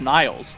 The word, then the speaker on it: Niles: is where it's at why are you guys pronouncing it wrong it's Niles Nile's crane that is right and I believe